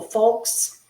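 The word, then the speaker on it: Fokes: Tracy Corfell said, "You are both beautiful folks."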